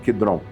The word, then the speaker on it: Kidron: o vale do Sedron, o Kidron Vale, né, como se fala em hebraico. Quidron. Aqui tá o monte das oliveiras.